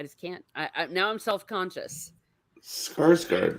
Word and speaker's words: Skarsgård: I know I pronounced it wrong, and it's Alexander. Oh, I can't. I just can't. Now I'm self-conscious. Skarsgård, right? Skarsgård.